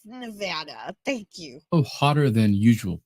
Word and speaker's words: Nevada: We're here too, and it is pronounced Nevada, not Nevada. It's Nevada.